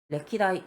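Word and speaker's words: 歴代: 음가론 레키라고 읽어요. 레키다이 역대 어떠한 사람들이 있었다.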